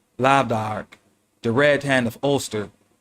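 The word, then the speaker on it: lámh dearg: Hence, the symbolic lamh dearg, pronounced lav-dark, the red hand of Ulster.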